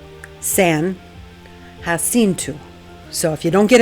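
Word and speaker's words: San Jacinto: And yes, that's how it is pronounced, San Hinu.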